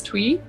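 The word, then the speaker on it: Tui: um ruby i think her last name is twee is how you say it properly she's from new zealand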